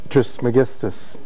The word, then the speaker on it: Trismegistus: Pronounce it for me, please. Trismegistus.